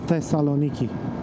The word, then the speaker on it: Thessaloniki: We asked the local, it's pronounced Thessaloniki. There's a th at the end, at the beginning.